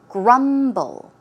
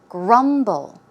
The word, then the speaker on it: grumble: eaten the pronunciation is grumble grumble the stress goes on the first syllable one more time grumble and a synonym would